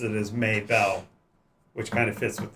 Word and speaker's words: Mabel: She pronounces it as Maybell, which kind of fits with the southern drawl she speaks with.